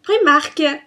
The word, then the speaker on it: Primark: disney donc on passe tirait à la partie primark donc moi je prononce primark n'y en a certains qui le